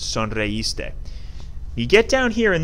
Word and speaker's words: sonreíste: We learned that we need an accent on this I in the last lesson that we did, because otherwise it's pronounced sonreíste.